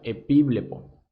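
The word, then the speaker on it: ἐπιβλέπω: Esto es del Strong griego 1914 y se pronuncia epíblepo.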